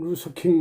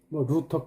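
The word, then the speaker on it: Luther: 그 다음에 마틴 루서킹 목사, 루터 킹이라고도 독일식 발음, 영국식 발음 이렇게 얘기를 합니다만은 미국의 흑인 운동 지도자 나에겐 꿈이 있습니다 한 그 연설은 참 전설적인 연설이죠.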